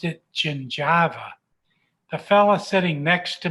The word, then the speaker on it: gingiva: ever saw in dental school was this word g-i-n-g-i-v-a it was a funny-looking word i pronounced it gingiva the fella sitting next to me in my